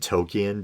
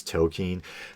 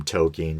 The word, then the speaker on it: Tolkien: right i growing up i always said tokyo but i think it's token but um they had uh